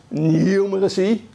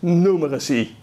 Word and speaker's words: numeracy: The pronunciation of numeracy, it can be, you can pronounce it in two ways. The British say the English pronunciation is numeracy. The more American pronunciation is numeracy.